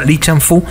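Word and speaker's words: 李尚福: para dos academias militares aquí se pronuncia lichampú que entre otras cosas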